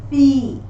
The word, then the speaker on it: fille: fin, rien, pain, certain, Moving on to the letters ILLE, which are pronounced as E in French, as the letter I and Y, or as the letter double E in the word fille.